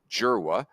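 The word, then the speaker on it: Dzierwa: an SEC ACC fan Joe jera which is spelled dzwa at Michigan state is like the 68 Lefty who's been Electric Joe jera uh and then you've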